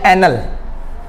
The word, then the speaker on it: annul: देखो इसकी स्पेलिंग देख लो ANNUAL और ये ANNUL। अब देखो दोनों में फर्क क्या है? ये है एनल।